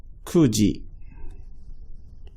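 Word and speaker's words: 九時: 9's a little bit different too. Kuji. Kuji.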